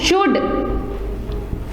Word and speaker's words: should: SHOULD ये होता है बच्चों शुड, ठीक है।